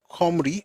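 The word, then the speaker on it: Cymru: It's that pronunciation for me is Kim because it's easier for me to pronounce that way but for them it's comry or com C Y M R U and it means fellow countrymen or compatriots.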